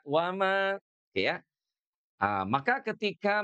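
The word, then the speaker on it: وَمَا: Jadi kalau berhentinya di wama kembali ke aslinya dua harakat. Jangan kalau berhenti di mad jaiz munfasil itu jadi empat. Jangan ya. Jadi tidak begini. Tidak. Bima unzila ilaika w enggak begitu tuh ya. Shat allahan. Nah tidak boleh ya. Jadi bima unzila ilaika wama. Berhentinya cukup dua harakat.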